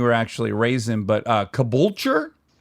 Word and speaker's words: Caboolture: I'm afraid to pronounce the town you were actually raised in, but Caboolture? Yes, spot on. Caboolture.